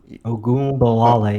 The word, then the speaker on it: Ogunbowale: And I think the real interesting story is Dare Uh, Ogunbowale is how you say it. Agumbawale, yeah.